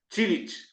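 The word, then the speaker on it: Čilić: el gran slam de tenis en Estados Unidos, Chilich, Marine Chilich, que tanto si lo pronuncias así como si lo lees tal cual, que es Cilic, pues es palíndromo.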